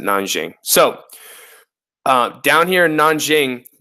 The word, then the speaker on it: Nanjing: here okay I know it looks like nan King but you know Chinese there's a couple different ways that you could pronounce stuff in Chinese they pronounce it nan Jiang so down here in